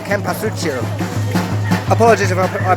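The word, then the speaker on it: cempasúchil: Right before you comment on my pronunciation, the lovely lady behind me just told me, Cempasuchil, Cempasuchil, marigold, okay?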